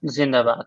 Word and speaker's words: Zindabad: Zindabad.